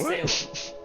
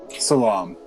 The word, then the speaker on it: Salam: Who the fuck is Salem? Aren't you Salem? Nope. Salam. It's a minor difference, but I apologize.